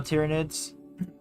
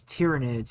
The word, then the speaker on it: Tyranids: And it is Tyranids. It's not Tyranids.